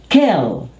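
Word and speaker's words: kiln: Now this word is kill. Drop the N. Kill.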